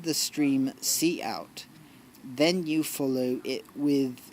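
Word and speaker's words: cout: to the stream see out see out pronounced see out is the name of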